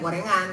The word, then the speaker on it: Goerengan: di sini adalah goerengan ya tulisannya adalah goerengan g o e r e bacanya gorengan ya kan Nah ini adalah